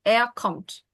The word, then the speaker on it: kommt: Almost. There's no S there. It's simply T. Er kommt.